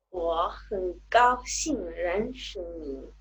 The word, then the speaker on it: 我很高兴认识你: Nuevamente los tonos. Al principio, dos tercer tonos, 我. Entonces recordamos que ese se pronuncia un poquitico, ligeramente más agudo que el segundo, 我很高. Aparece el primer tono, 高兴, cuarto tono, 认识.